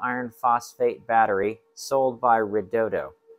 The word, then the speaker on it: Redodo: phosphate battery sold by redodo or they say it's pronounced redodio not sure how they